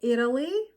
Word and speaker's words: Italy: in an unstressed syllable for example Italy the letter T is a flap T because it is located between two vowel sounds and in an unstressed syllables but when you say Italian there will there won't be a flap T because Italian is a stress syllable so Italy Italian or POS positive negative